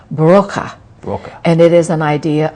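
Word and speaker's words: Brauche: old German healing tradition spelled B-R-A-U-C-H-E, but pronounced Broca.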